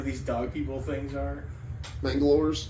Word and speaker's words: Mangalores: Mangalores. Mangalores? That sounds about right. I think it was Nangalores? Said Mangalores. Mangalores? I've been saying it wrong this whole time.